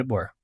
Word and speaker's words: DeBoer: Kaylin DeBoer.